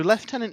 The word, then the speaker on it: Lieutenant: Lieutenant yeah so so so Lieutenant is that is the correct English pronunciation of Lieutenant uh but it is